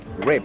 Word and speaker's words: rape: Is it rip or rape? Rape. Rape. Rape. Yeah. Rape. Yeah. And Like, it's spelled R-E-P-E.